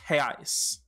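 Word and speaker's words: reais: singular term and the plural is reno is pronounced heis so um that is essentially um one way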